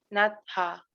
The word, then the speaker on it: natha: Natha. Ajá. Natha. Un breve como espacio entre la T y la A. Tiene que sonar la H muy suave.